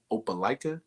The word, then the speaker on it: Opelika: What were some of the other sports in Opelika?